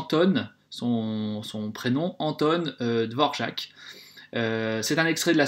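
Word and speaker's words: Dvořák: vous le voyez ici par dvorjak alors ça s'écrit de vos raquettes certaines personnes qui disent dvorak néanmoins on l'entend souvent dvorjak parce que c'est un nom aux des pays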